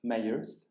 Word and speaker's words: Myers: vous vous dites américaine vous prononcez à juste titre myers c'est important et nina